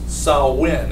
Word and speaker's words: Samhain: there's a word in celtic which is called samhain it's a gaelic word pronounced salwin is actually how it's pronounced but spelled s-a-m-h-a-i-n